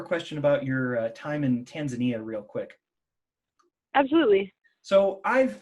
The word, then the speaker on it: Tanzania: swahili i would say tanzania the emphasis goes on to the second syllable and the a's are soft rather than hard so i'd say those